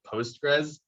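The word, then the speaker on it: PostgreSQL: using the database called postgres sql it's a very weird string to pronounce um people generally call it postgres but this is a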